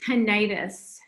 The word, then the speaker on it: tinnitus: And then just in terms of a couple of other things, that you pronounce it tinnitus.